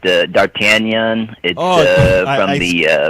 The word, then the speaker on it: d'Artagnan: was telling you that it's actually pronounced d'Artagnan I screwed up on